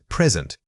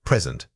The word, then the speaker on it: present: The word is present. Say it again, present. Notice how the stress changes completely when we pivot from the noun to the verb.